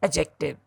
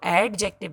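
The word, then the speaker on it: adjective: Next part of speech is एडजेक्टिव. डी इसमें silent होता है. हम इसको एडजेक्टिव नहीं बोलते, हम इसको एडजेक्टिव बोलते हैं.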